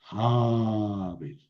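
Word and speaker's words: הבל: En pausa larga, Habel. Oye, Javier, aquí no solamente alargaste la vocal, no, es un segol, lo hubiera alargado en seré, no, le cambié la vocal, le puse una cametz para indicar que es una pausa mayor.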